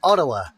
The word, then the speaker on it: Ottawa: Locals will tell you that Ottawa is actually pronounced Ottawa.